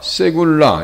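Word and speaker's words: סגולה: 기업이라고 하는 것은 나하라고 하는 나하라라고 하는 단어를 쓰는데 세구라 세굴라 이렇게 발음하는데요.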